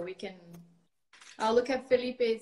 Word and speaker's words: Felipe: I used to say Philip. I think that's not the right way to say pronounce the name. Well, I guess in English that's how it sounds. In Yeah. Portuguese it would be Felipe, but Felipe.